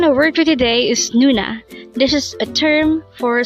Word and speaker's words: 누나: first syllable is new sexy boy is na pronounce it with me Nuna Nuna again a word for today is Nuna this is a term for sister but this